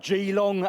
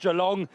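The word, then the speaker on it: Geelong: I went to a place called Gilong as I call it, properly pronounced Jalong.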